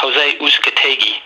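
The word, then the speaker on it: José Uzcátegui: middleweight fight to open it up with it's pronounced jose uzcategi fred and matt and matt caraboff which should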